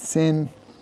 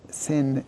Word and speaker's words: sin: The sound of a sin is s like an s.